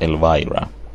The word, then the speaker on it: Elvira: pronounced Elvira.